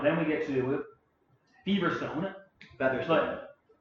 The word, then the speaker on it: Feverstone: Featherstone. It's Feverstone? Feverstone. Oh, man. Because in the British, they pronounce it like Featherstone.